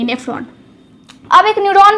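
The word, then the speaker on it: nephron: हुई तो किडनी बनी हुई है बहुत सारे नेफ्रॉन से और नेफ्रॉन की स्ट्रक्चर कैसी थी ये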